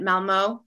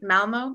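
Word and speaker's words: Malmö: communication for development at malmo am i pronouncing that right malmo in yeah university in sweden um so welcome leif chris and carrie thank you that um lot on the o is hard to say i don't even know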